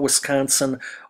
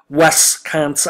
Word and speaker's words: Wisconsin: me nuts it's like the people who call Wisconsin westconsin I don't know where people get westconsin from it's spelled w i s c o n SI I I don't see an e in there it's not W it's